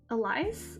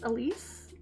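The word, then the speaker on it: Elyse: I'm not sure how to pronounce her middle name. It's E L Y S E Elise Elise.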